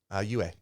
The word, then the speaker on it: Yue: I think she did a decent job for what she could, but more importantly, How do you pronounce her name? Yue.